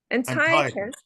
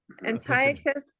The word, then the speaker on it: Antiochus: Antiochus. Antiochus.